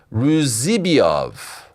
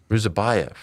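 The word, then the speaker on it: Ruziboev: that card against Nursultan Ruzibiov. Did I get that right? I think I mispronounced his name. Ruzibiov? Who's to check? Ruzabayev. Ruzabayev. How did I screw that up?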